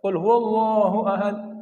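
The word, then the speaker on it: قل هو الله أحد: Jadi kalau bacanya Pak pakai tasdid Pak ya. Jangan kul huwallahu ahad, Allahus samad.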